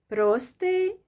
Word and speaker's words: простий: So whether you stress the first syllable or the last one, it doesn't matter. Простий, простий.